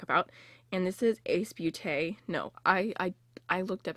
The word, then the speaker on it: Ace Beauté: It sounded like booty, but it was like beau. Okay, beau is beautiful in French, and it's pronounced like beau, and then I think it's tay, like beauté, but not booty.